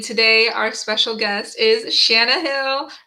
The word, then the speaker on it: Shanna: our special guest is Shana Hill do you pronounce it Shana or shayana Shaina okay sorry Shaya Hill